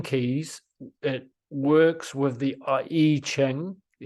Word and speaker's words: I Ching: it works with the E Ching the E Ching spelled I Ching but it's um it's pronounced e Ching there is 64 different